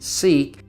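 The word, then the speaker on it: Siq: five we come to the sick or pronounced seek this is a long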